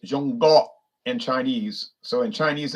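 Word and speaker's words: 中国: China is pronounced Zhongguo in Chinese. So in Chinese, they say Zhongguo.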